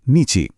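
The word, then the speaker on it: 日: এর জাপানি উচ্চারণ হলো হি আর চীনা উচ্চারণ হলো নিচি।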